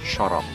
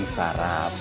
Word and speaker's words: syaraf: yaitu nahwu dan ilmu syaraf. Ilmu syaraf? Apa itu? Gila dong kita. Bukan saraf, tapi syaraf. Bacaannya syaraf.